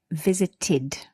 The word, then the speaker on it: visited: The ed here is pronounced id, visited.